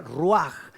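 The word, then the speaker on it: רוח: Es también la misma palabra en hebreo que se pronuncia ruaj.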